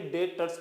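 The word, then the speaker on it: debtors: B silent होता है इसलिए इसे डेटर्स पढ़ते हैं।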